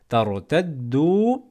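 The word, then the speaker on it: تَرْتَدُّوا: ne le prononce pas, tartaddu, la prolongé la, ala, adbarikum. Ensuite, fatanqalibu. Pareil, à la fin on a un alif orthographique, signe du pluriel, on ne le prononce pas.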